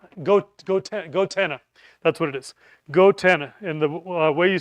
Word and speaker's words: goTenna: Gotenna. And the way you spell it is go t n a go g go go goenna.